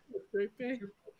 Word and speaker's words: Euterpe: Euterpe.